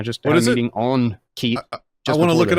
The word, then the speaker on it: Keet: But the KEET, like parakeet.